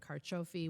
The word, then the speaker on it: Carciofi: We had the long-awaited official reopening of Mariposa Junction, and those shops, including Carciofi, which I'm going to pronounce correctly because it is in fact artichoke in Italian, got reopened finally, which is amazing to see her back in her business.